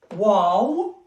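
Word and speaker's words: واو: And last two letters in English, which is wow, wow. The name of the letter, it's exactly as you say in English, wow.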